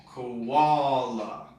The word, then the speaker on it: koala: bear in Australia and this has three syllables as well koala so it kind of has the sound of wall koala what about one much